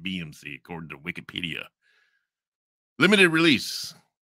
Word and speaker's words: BxMxC: think is it what's BX mxc it's like no you got to pronounce it BMC chord to Wikipedia limited